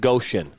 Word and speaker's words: Goshen: I double-checked. It is pronounced Goshen.